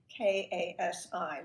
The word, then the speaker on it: Kasi: She spells Kasi, K-A-S-I. We know what spellings are like. They can be extremely creative, but she pronounces it Kasi.